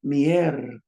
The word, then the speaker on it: miércoles: So this word, which is Wednesday, it says miércoles. Notice how I'm putting the stress in the front.